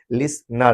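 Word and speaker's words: listener: T silent रहता है। इसलिए इसको क्या पढ़ेंगे? लिसनर।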